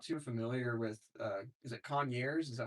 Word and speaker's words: Conyers: I mean, we do a lot in the Atlanta metro, but I'm not too familiar with, is it Conyers? Is that how you pronounce it? Kanye, it's like Con 30 minutes outside.